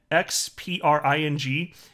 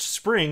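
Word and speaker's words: Xpring: Just like when Spring, before it was rebranded Ripple X, it was written X-P-R-I-N-G, and it was supposed to be pronounced Spring, and people kept calling it, understandably, X-Pring.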